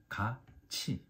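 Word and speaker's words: 같이: are pronounced like Chu Tu plus two so pronunciation of this word is Kachi um remember this I already explained about the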